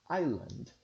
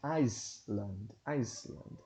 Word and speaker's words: island: The Pine Island Glacier, vocês observaram também que a palavra island não se pronuncia, não tem o som do S. Não é Iceland, é island, ok?